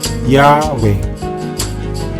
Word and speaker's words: Yahweh: ng patinig o vowel kaya ang YH w h pagkatapos ng y nilagyan nila ito ng letter a pagkatapos naman ng w nilagyan nila ito ng letter e ngayon kaya mo n bigkasin ' ba syempre yahwe ganun din sa GH